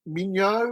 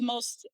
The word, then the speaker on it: Minho: So, one was is it M how would you Mo or how would you pronounce that university? Mo that's one from Portugal.